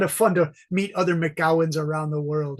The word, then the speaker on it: McGowan: fun to meet other mcgowens around the world right okay who are you I'm sorry about that I'm sorry but the MC is pronounced as Mick not Mac right yeah it's Mick